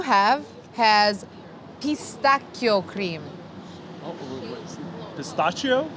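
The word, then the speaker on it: pistacchio: Oh, pistachio? It's pistachio. Ah, we're having real Italian food. Yes, Pistachio. real Italian words as well, and pronunciation.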